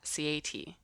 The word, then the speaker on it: Sieaety: So, for example, if I took the word cat, I would pronounce it C-A-T by saying the names of the letters. And that's how the name Sieaety came about, from the word cat, Sieaety.